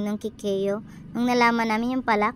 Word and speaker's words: cacao: Ito ay tinatawag na kakao sa Tagalog at kikeyo sa English. Kikeyo daw ang pronunciation niyan sa English, sabi nung teacher namin nung high school.